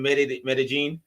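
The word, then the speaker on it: Medellín: From Medellin.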